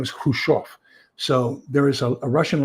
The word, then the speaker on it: Khrushchev: His name is Khrushchev.